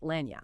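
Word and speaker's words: lagniappe: It's pronounced lanyap.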